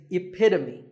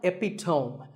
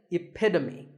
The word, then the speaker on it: epitome: example of something and the perfect pronunciation of that is epitome it's not epitome once again epitome of course once you